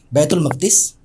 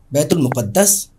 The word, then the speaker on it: بیت المقدس: मकद जो लफ्ज है इसको तीन तरीके से प्रोनाउंस कर सकते हैं बैतुल मकद बैतुल मुकद्दस और बैतुल मुकद्दस तीनों तरीके से बात